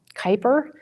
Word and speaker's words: Kuiper: Amazon is bringing on a new project it's pronounced um Kuiper but it's pronounced it's spelled k-u-i-p-e-r so um